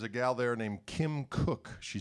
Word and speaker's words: Koch: How do you say your name? It's Cook. They'd still get it wrong, though. But people just want to say, Koch. Koch.